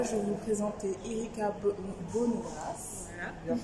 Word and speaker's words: Bonnegrace: Là, je vais vous présenter Erika Bonneras. Voilà. Bien prononcé.